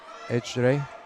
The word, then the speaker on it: Ecre: And in the Turkish language, the C is pronounced the J, so it's Ecre.